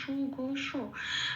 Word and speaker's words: সুঘোষ: জন্য একটু ভেঙ্গে বলেছি সুঘস যেমন আছে তেমন কোন অক্ষরের নিচে হসন্ত নেই কাজেই সেটা পূর্ণ হিসেবে উচ্চারণ করছি যেমন সুঘোষ পেট কাটা মতন সঠিক সল উচ্চারণ করছি সুঘোষ বলতে পারব না হসন্ত থাকলে ঘোষ বলতাম কিন্তু যেহেতু হসন্ত নেই সুঘোষ এর বলতে হবে মনি মনি হ্যা আচ্ছা